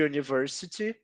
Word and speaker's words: university: que começam com u Às vezes tem o som de you como é you uniforme e University e algumas palavras têm